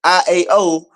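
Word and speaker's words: Ιαω: Hebrew name Yahweh is represented as IAW, pronounced as IAO, which is considered the Greek translation of the Tetragrammaton YHWH, right?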